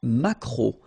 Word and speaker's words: maquereau: t, la truite, le maquereau. So technically this k, just pronounce it k, maquereau, maquereau. Alright? And then e, a, u, remember when you combine these three vowels, you get the sound o, maquereau.